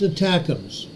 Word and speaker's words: ATACMS: range missiles called attacks atacms pronounced attacks is a supersonic guided